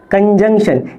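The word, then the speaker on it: conjunction: कंजंक्शन, ये जो एन है ये भी लिटिल साइलेंट है, ये भी लिटिल साइलेंट है, पूरा साइलेंट नहीं है।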